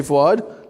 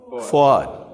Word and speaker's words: Fouad: She doesn't call me Fouad because she can't say my name. So don't call me Honey. That's because she's my wife. Just call me or Fouad. Can we say Fouad? Let's try. Fouad.